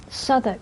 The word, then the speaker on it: Southwark: Southwark, that's how you say it.